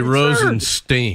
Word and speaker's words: Rosenstein: absurd you talk about Rosenstein it's actually Rosenstein who cares I'll bring that up once again it it rhymes with stirring spin now you'll remember that